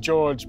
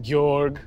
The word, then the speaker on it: George: It's spelled George, but it's pronounced Georg.